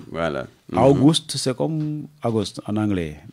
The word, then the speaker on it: August: Voilà, parce qu'en allemand, tout se prononce. Ouais. Le A, August. le U qui est un OU, August. le G qui est un G, ensuite le U qui revient OU, August. S-T, August.